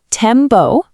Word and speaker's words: Tembo: Let's get the pronunciation right. Tembo.